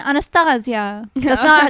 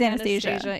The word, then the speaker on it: Anastasia: Oh yes, we're gonna shout out our friend Anastasia. That's not the way we say her name. It's Anastasia. Yeah, We love her.